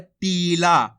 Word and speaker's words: टिला: इस प्रकार से और छोटी ई की मात्रा को टिला जल्दी से उच्चारण हो रहा है टिला और यहां पे खेच को हो रहा है टीला इतना फर्क है इनके अंदर ये आपको अच्छे से समझ